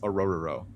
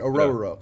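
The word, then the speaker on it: Orhorhoro: The H's are silent, so it's just Orororo. Orororo? Orororo. I love that. I love that. It's so much easier. Orororo.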